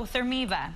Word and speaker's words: ThermiVa: for being with us so therm eva pronouncing that right right exactly how does it work